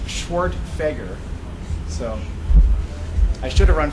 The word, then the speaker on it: Schwerdtfeger: My name is pronounced Schwerdtfeger, so I should have run for governor, but I missed my chance.